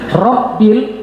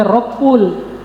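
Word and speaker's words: رب: Rabbil Rbil. Nah, itu bawa gak boleh rabbul. Kalau rbul salah kagek bacanya.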